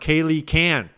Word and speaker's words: Kaylee K-Ann: It's pronounced Kaylee Can.